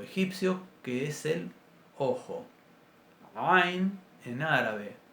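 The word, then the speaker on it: ע: Bueno, básicamente para practicarla podemos comenzar pronunciando una A. Nos ponemos 2 dedos en medio de la clavícula, en la garganta, y presionamos suavemente, como si nos estuviéramos ahorcando. Es el sonido del ahorcado.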